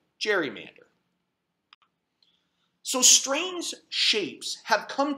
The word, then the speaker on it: gerrymander: cartoon where it was called a Gary Mander which we then proceeded to mispronounce to the point that it's now called gerrymander so strange shapes have